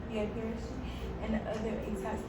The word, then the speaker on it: Pharisee: Pharisee. Yeah, Pharisee.